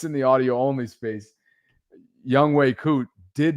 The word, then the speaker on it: Younghoe Koo: He didn't even, for those of you, by the way, and somebody's helping us out with the pronunciation, Younghoe Koo. Thank you. Younghoe Koo.